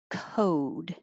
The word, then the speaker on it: code: and 32 30 is code so the american oh it's not just cold but code o code 31 cold